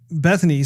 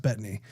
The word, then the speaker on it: Bettany: man excelsior Paul Bette Bethany said that actually I think it's pronounced Bettany now that was a